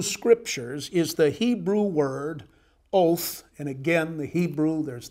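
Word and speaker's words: אות: is the Hebrew word oath and again the Hebrew there's the Hebrew Mark o WT uh but pronounced much like our English word oath interpret his Mark in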